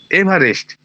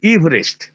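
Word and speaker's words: Everest: হচ্ছে আমার নামের বানান এভারেস্ট ওরা সবাই এভারেস্ট এভারেস্ট করবে ভারতবর্ষের লোকজন কিন্তু আমার উচ্চারণটা নামের উচ্চারণটা হচ্ছে ইভেস্ট ওই মাঝখানে ওই ইটার কোন উচ্চারণ নেই ইভারেস্ট এভারেস্ট নয় তাহলে এই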